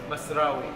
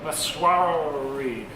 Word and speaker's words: Masrawy: John, how do I pronounce the name of this restaurant? Masrawy. Masrawy.